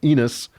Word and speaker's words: Enos: Chapter 4 ends with Adam and Eve conceiving another son called Seth, and Seth has a son called Enos, and chapter 4. That rhymes with penis.